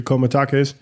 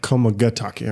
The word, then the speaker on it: Komagatake: So, yeah, I thoroughly enjoy the komatakes a lot, or komaetake, right? Komogatake. Komagatake. I forgot a syllable in there.